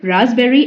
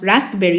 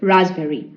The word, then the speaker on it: raspberry: paste bread Kia okay so it is raspberry and not raspberry you can see the image as well these are red fruits okay so it is raspberry so uh at last